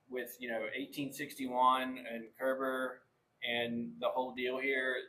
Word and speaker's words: Koerber: name come from uh it's pronounced Kerber so rhymes with Gerber remember ger baby food so Kerber um it is actually